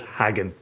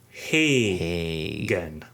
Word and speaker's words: Hagen: And the reason he's the Ice Cream Man is because somebody in the podcast thought it was Hagen. So it's actually pronounced Hagen. Like Sammy Hagar.